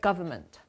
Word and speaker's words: government: environmental yes very good let's write the word government we have silent letter silent letter just remember ride the word and see that it's here mm-hmm yes government we don't yeah we don't pronounce it but we always write it in government and what was the